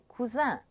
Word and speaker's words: cousin: Okay, the sound un is spelled sometimes I-N, and indicates the masculine, as in words like cousin.